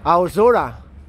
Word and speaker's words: Aozora: Ito siya, Aozora. Ayan ang pronunciation niyan.